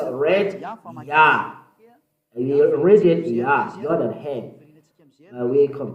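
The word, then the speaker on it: יה: How to pronounce it? Yah. According to the Hebrew, when you see this word, it is read Yah in Hebrew.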